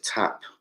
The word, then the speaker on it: Tap: What is it, Trap? I don't want to say his name wrong. No, it's Tap.